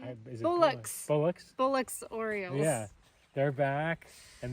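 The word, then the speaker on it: Bullock's: Bullards. Is that how you say it? Is it Bullocks. Bullocks? Bullocks Orioles.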